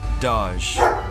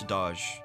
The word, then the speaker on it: Doge: the way to pronounce Doge. Some people say Doge, like saying the word dodge without the D, while others are convinced it's Doge, pronounced in a way that would rhyme with the word Vogue.